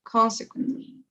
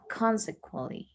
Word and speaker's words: consequently: the stress goes in the first silence so consequently ah consequently good okay now this one here vehicles okay